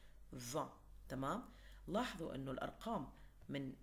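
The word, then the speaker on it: vingt: أوكي، وآخر شيء عندنا رقم فان، يعني هاي الإي إن بس اللي بتنطق، الجي تي كأنه ما إلها وجود، فان.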